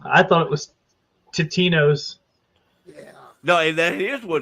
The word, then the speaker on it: Totino's: I thought it was Totino's. Yeah. No, that is what. No, it is. It is Totino's. I, on the other hand, remember it being Tostinos.